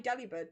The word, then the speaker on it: Delibird: His name's put it on delivered, so it's pronounced as Delibird. Delibird. Delivered. Delibird. Delivered. Delibird. Delivered. To me, that sounds the same.